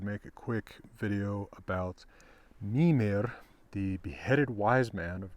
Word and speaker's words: Mímir: But in fact, all Old Norse words, or indeed modern Icelandic words, are emphasized on the first syllable. So it's Mimir, not Mimir.